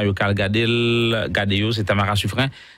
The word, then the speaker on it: Suffren: Dans les mondes musique qui est disponible sur chaîne YouTube Tamara Yokal Gadel Gadeo, c'est Tamara Suffren. Ça s'écrit Suffren, c'est Suffren.